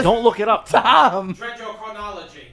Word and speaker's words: dendrochronology: Dendrochronology.